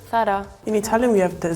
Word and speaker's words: Zara: of a girl saying that oh you're Mis pronuncia Sara it's not thara it's Sarah but it's actually called thara in Italian we have the Z more like a strong so we always say Zara similar in Germany we pronounce the Z really